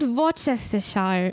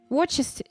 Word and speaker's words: Worcester: It's not Worcestershire. No, it's I'm always forgetting. Worcestershire? Worcester.